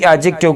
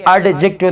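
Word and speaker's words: adjective: مثلا د ADJECTIV اجکټیو کلمه کې د ډي حرف نه تلفظ کیږي یعنی اډجکټیو نه ویل کیږي اجکټیو ویل کیږي.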